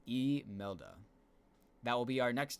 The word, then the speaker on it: Imelda: Technical National Hurricane Center pronunciation is Imelda.